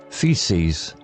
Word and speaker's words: faeces: Feces, part of speech, noun, plural, pronounced feces, meaning waste matter, poo, produced by humans or animals.